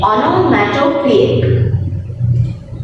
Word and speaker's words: onomatopoeic: Please take care of the pronunciation. It is onomatopoeic.